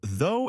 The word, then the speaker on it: though: Both though and although share the same vowel sound. It's the long o sound, like in go or snow. The gch is completely silent here.